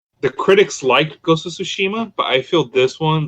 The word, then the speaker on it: Tsushima: Is it pronounced Tsushima?